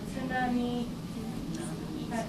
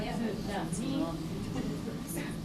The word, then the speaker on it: tsunami: So if you have hard time pronouncing sound at the beginning of the word, think about cats.